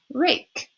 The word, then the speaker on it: rake: The E is silent at the end of our word rake.